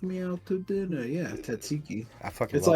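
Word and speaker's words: tzatziki: not how it's spelled but it's how it's pronounced it's like t a t z i Ki tsiki alas here we are I am quite full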